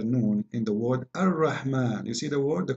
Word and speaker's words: Ar-Rahman: So if we say Ar-Rahman in the Quran, it's coming the alif very short, but you hear me pronouncing the alif, Ar-Rahman, Ar-Rahman. This is not a fatha only, it is a letter, there is an alif here.